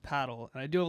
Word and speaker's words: padel: It's actually pronounced paddle.